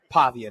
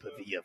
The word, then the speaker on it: Pavia: We're talking about Diego Pavia now. Got it. So, congrats. See, and this is good for you. You learned how to say his name. I've been saying Pavilla forever.